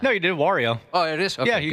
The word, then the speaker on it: Wario: How do I pronounce it?" Did I did it wrong again, didn't I? No, you did. Wario.